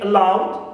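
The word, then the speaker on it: aloud: Also, if second syllable in this adverb of syllables contains diphthong, like in allowed, I have au, right, allowed. So I stress here loud, clear.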